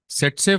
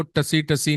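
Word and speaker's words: tsetse: सेट्से फ्लाई, इसको बेटा टीएससी लिखते हैं, पर इसको टसी टसी नहीं बोलना, इसको बोलते हैं एसईटीएससी। पहला टी इज साइलेंट।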